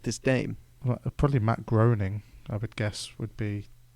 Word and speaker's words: Groening: Obviously, Matt Groening is often the big name in The Simpsons, but another pronunciation thing. What? I say Groening. Groening? Yeah. There's no A in it.